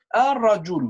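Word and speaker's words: الرجل: Al-rajul, we don't spell lam, we don't say it, it's silent.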